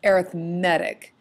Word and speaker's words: arithmetic: today an arithmetic sequence that's pronounced arithmetic because in this case it's an it's an adjective it's not a noun so it's an arithmetic